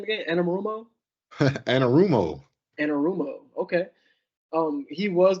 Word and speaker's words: Anarumo: do know and and how how do you pronounce the name again Anam rumo anarumo anarumo okay um he was the DC that